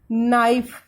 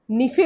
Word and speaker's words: NIFE: इसे बोलते हैं नाइफ, NIFE, नाइफ। नाइफ Hindi में इसे प्रोनाउंस करेंगे तो निफे बोलते हैं इसको।